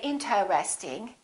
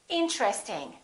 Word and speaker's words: interesting: Most people don't say interesting. They say interesting. Interesting. This TR are connected.